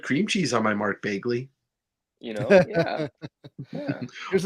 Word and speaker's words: Bagley: Bagley, like Mark Bagley, but people that say Bagley the way that the word vaguely is pronounced, that's funny to me.